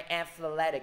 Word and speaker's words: athletic: Nhấn vô âm tiết thứ hai athletic, các bạn nhớ cái mẹo của thầy đó chính là gì? Các bạn thấy chữ EC đứng cuối cùng thì âm tiết nó, cái trọng âm nó sẽ đứng trước cái âm âm âm tiết của chữ it đó, là âm tiết bên cạnh nó.